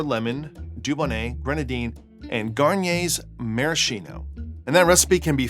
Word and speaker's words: maraschino: I said maraschino, like the maraschino cherries, but cocktail snobs will be quick to point out that it's maraschino, because that's how Luxardo pronounces it since it's Italian. But Garnier is French, so it should be Marascan, I believe.